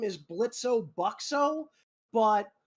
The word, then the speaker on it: Blitzo: Technically, his full name is Blitzo Buxo, but he has basically started pronouncing it Blitz with a silent O, and yes, his last name is Buxo.